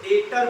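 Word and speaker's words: debtor: देनदार देनदार को हम लोग क्या बोलते है टर लिखा हुआ है लेकिन इसको डेटर बोलेंगे क्या बोलेंगे टर डेटर का मतलब देनदार इसम बी बरा क्या हो गया अब ये मत पूछना क्यों साइलेंट हो गया अंग्रेजी में अजीब अजीब रूल है बरा क साइलेंट हो जाता समझ नहीं फर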